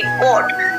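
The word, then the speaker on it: caught: उसके बाद सी ए यू जी एस टी, कोट, ठीक है, कोट।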